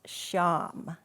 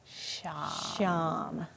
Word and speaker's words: Sham: And the mantra that we're going to be using today is pronounced Sham. Sham.